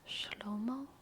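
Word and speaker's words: שלמה: I just learned that Solomon in Hebrew is pronounced schomo schomo schomo interesting interesting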